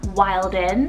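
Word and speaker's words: Wylden: I then have the name Wilden, spelled W-Y-L-D-E-N, Wilden, or it could be Wilden as well. Kind of either or, whichever way you want to pronounce this one, but it's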